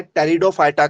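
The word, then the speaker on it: Pteridophyta: क्या कहा गया है टेरिडोफाइटा कहा गया है और यहां पर जो पी जो है वो साइलेंट है ना पी साइलेंट है तो टी से चालू होता है पी वहां पर साइलेंट शब्द रखा गया है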